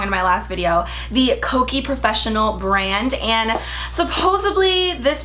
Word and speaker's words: Kokie: one had just the Kokie Professional makeup brand. I was pronouncing it Kiko and that's a completely different makeup brand, so my apologies. This is Kokie and it's super cute, the packaging.